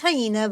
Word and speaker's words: hyena: I I know I know it's hyena but I like pronouncing a henna.